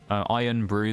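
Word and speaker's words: Irn-Bru: actually how it's spelled it's spelled irn b i u so I guess it technically be pronounced N Brew but it's called iron Brew nbw we got sylvion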